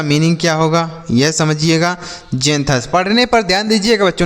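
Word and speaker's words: xanthous: जेंथस। पढ़ने पर ध्यान दीजिएगा बच्चों। नहीं तो आप गलत तरीके से पढ़ेंगे क्योंकि यहां पर जो x है इसका उच्चारण ज के रूप में किया जा रहा है।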